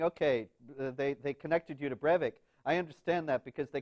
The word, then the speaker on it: Breivik: I don't even know how to pronounce his name. Anders Behring Breivik, yes. Breivik, yeah, Breivik.